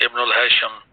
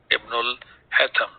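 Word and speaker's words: Ibn al-Haytham: To talk about Ibn al-Hatham, that we pronounce as Ibn al-Hasham. Sheen is not there in the Arabic language, so we will call it as Ibn al-Hatham.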